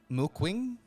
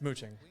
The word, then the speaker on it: Muqing: Mooquing? Ching. Ching? It's mooching. Mooching? Yeah. It's mooching. It's mooching. Shit. Or at least that's how I've heard it pronounced all the time.